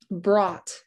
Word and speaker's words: brought: Brought, brought. I hear the b, r, a, t. Ooh, that g, h. I didn't hear that at all. I didn't hear a k, silent.